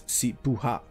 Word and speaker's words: Sipuha: I'm gonna have just a bit of a correction here. It's Sipuha. Sipuha, my bad.